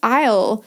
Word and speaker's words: aisle: So if you've never heard the word aisle before, it's spelled funny, A-I-S-L-E. I'm not going to spell all the words, but that's a funny one that is written a bit differently to how you would say it.